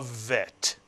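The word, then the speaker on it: ב: If you take the dagesh out of the bet, it is no longer pronounced as a B in English, but as a V in English. And therefore we call it a vet.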